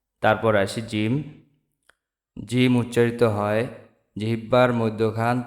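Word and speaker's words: ج: দাতের agar সঙ্গে লাগান সা সা তারপর আসি জিম জিম উচ্চারিত হয় জিহিববার মধ্যখান তার বরাবর উপরের যে তালু সে তালুর সাথে লাগাইয়া জিম উচ্চারিত হয় জিম জিম জি জিম জিম তারপরে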